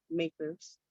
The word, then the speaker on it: MACRS: commonly referred to bias initials makers um macrs and we pronounce it makers so the general rule